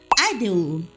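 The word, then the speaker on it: 아이들: O nome Idol tem uma pronúncia muito parecida com a palavra criança em coreano. Aideul.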